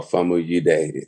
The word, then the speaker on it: Famuyide: Oh, Famuyide. I can't pronounce that. See. Now you nailed the pronunciation though. The IDE, I'm like, yes, that's a real West African.